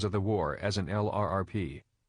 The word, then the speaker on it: LRP: the war as an lrp a lerp as the acronym is often pronounced which stands for long-range